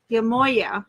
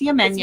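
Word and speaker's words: Yemaya: so it says Yamoya, but it is It's Yamenya. many different pronunciations for the same Yeah, she goddess. has many different spellings as well. But this is Yamenya.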